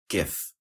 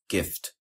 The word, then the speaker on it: GIF: a one syllable word the acronym is most commonly pronounced GIF with a hard G as in gift or GIF with a soft G as in gem differing in the phon